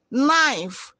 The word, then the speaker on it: knife: KN in knee, knife, no. Letter K is silent.